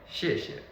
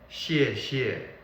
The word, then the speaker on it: 谢谢: So the correct way to pronounce it is 谢谢. I know, sometimes a lot of other people will teach you 谢谢.